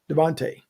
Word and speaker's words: DeVonta: guys is the name of the new eagle pronounced devonte or devonta so it's devon t smith devonte turkey says my words get mixed up sometimes